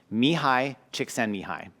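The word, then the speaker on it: Mihaly Csikszentmihalyi: is actually a guy by the name of Mihai Csikszentmihalyi.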